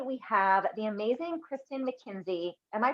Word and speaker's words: McKinzie: jamie carroll today we have the amazing kristin mckenzie am i pronouncing your last name right yup that's perfect